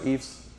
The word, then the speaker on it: EIFS: Anybody that prefers EFS, I say both. You probably heard me say both.